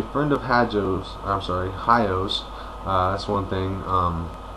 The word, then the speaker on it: Hajo: of hajjo's i'm sorry hios that's one thing um it is spelled h-a-j-o but i do believe it's pronounced hi-o so anyway but since